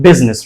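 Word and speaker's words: business: कि हम कहते हैं बिजनेस right it इज the correct pronunciation बिजनेस it looks awesome right ये अच्छा लगता है अब अगर आप इसमें ये साइलेंट लेटर को भी प्रोनाउंस करो कि बिजनेस सो it looks awkward right like बिजनेस अगर आप इसको प्रोनाउंस करो इट लुक्स ऑकवर्ड सो इसकी खूबसूरती के लिए ऐसा बनाया गया कि बिजनेस यानी इस आई को जो है ना वो साइलेंट किया गया अब दूसरा एग्जांपल है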